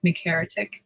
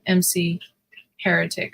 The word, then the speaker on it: Mcheretic: And sometimes I just it's like sometimes people would just pronounce it like MC Heretic or MC Heretic or something like that. So, Mcheretic or something like that. Sometimes I just tell people like, you know, Mcheretic like McDonald's. McNugget.